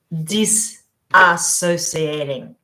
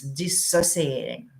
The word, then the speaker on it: dissociating: be unhealthy dissociating uh a common mistake people pronounce it disassociating very common mistake and sort of acceptable somewhat um yeah and I've